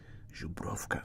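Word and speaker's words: Żubrówka: Zubrovka. Oh, there's a V there. Zubrovka. Hang in the know it around. Hey there, JC. Zubrovka.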